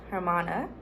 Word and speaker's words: hermana: Spanish Armada so now pronunciation is her mon like German uh hermana um brother is kind